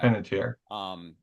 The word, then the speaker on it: Panettiere: Panettiere. Yeah. Panettiere.